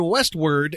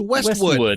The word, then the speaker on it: Westwood: voice first he said Westward and Wilshire it's pronounced Westwood there's no r in it and if you watch